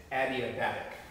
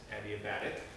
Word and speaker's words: adiabatic: all the way to pronounce that is adiabatic with the emphasis on the B adiabatic I don't know I've